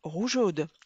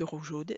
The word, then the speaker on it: rougeaude: Pour pouvoir obtenir le son je dois rajouter un E entre le E et le A du suffixe, puisque rougeaude s'écrit ROUGEAUDES. Rappelez-vous, ce sont les mères qui sont rougeaudes.